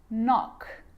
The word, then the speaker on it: knock: A K is not pronounced when it comes before an N, like knife, no, knee, knock, not, knowledge.